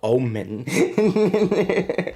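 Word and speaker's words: Omynbjorn: It's called Omen. Yes. I know. O-M-Y-N-B. Okay. J-O-R-N. Okay. Gender. Female. How about that? And Yeah, typing. it's a parody of Omen, Ohm, Bjorn.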